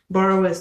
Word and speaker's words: Boerewors: Borrowers started in South Africa as well as in Zimbabwe.